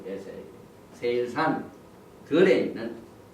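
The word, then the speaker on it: שֵׂעִיר: 그 다음에 여기 보니까 세일산 세일이란 말 세일 이렇게 발음합니다.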